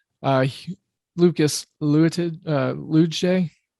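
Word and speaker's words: Luetge: he lucas lewitt uh lujay l-u-e-t-g-e it's like a soft g i guess uh brady singer who's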